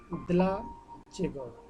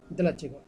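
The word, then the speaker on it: dlaczego: দেখেন এখানে কি আছে ডি এল এ সি জেড ই জি ও দলাচেগো দলাচেগো দলাচেগো দেলাচেগো উচ্চারণটা কিন্তু দলাচেগো দলাচেগো দলাচেগো মিনিং কি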